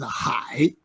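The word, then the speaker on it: 海: Pronunciation is Hai.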